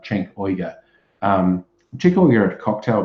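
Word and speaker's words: Cenk Uygur: But I think his name's pronounced something like Cenk Uyghur.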